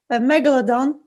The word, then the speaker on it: Megalodon: Because the Megalodon, I can never pronounce it. Yes. I can never. Did I say it right? Megalodon.